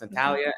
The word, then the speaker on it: Natalia: I know you said you were, when I initially pronounced your name, I pronounced it wrong. I said Natalie, and you said no, it's Natalia, and I heard kind of an accent.